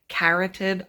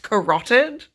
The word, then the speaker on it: carotid: I'm about to read the quote right now, and I'm going to say carotid artery, as though my ass isn't watching House MD 24/7 and know perfectly well that it's pronounced carotid.